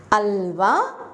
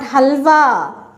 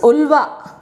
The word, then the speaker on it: Ulva: Alva it is, not halva. Okay? Alva. Some people pronounce ulva.